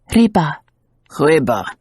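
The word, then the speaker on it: рыба: and shook her head you English always make the R so far back in your throat as if you are growling say it against your teeth RBA he said obediently eliciting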